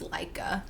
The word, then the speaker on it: Laika: I also think it's pronounced Laika. Is it Laika?